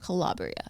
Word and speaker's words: Calabria: Calabria.